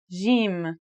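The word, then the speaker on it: ج: In Standard Arabic and Syrian Arabic, it should sound like the J in the word jam, while in Egyptian Arabic, it sounds like the G in the word game. They're both quite easy to pronounce though.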